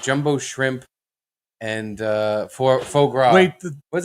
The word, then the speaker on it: foie gras: I think it was like jumbo shrimp and foie gras. Wait, How do you pronounce that? Foie gras? Foie gras? Faux gras.